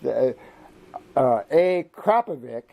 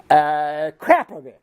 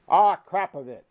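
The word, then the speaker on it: Akrapovič: So I go to titanium every time, but a Krapovic, it's not a Akrapovic, which is the way I was pronouncing it. It's Krapovic. Crap. Just think crap. Krapovic.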